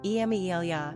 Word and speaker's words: Emilia: Italian number of syllables three ranking popularity 208 pronunciation emilya and Lia simple meaning rival characteristics of Amelia